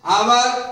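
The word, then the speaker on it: hour: तो honest, आवर, honourable, ये तीनों ऐसे शब्द हैं जिसमें एच का उच्चारण ह नहीं हो रहा है, ये तीनों शब्द में एच साइलेंट है।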